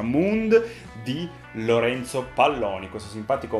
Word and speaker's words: Mooned: fa, sono un ignorante, lo chiamai Mooned per tutto il tempo, ma ovviamente si pronuncia Mooned, di Lorenzo Palloni, questo